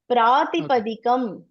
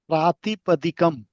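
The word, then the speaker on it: प्रातिपदिकम्: People are making mistake how to pronounce this, okay? Prabhu ji, repeat after me. Pratipadakam. Pratipadakam.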